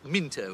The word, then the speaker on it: Mouse Paddler: It's written Mouse Paddler, but it's pronounced Minto. It's an English thing.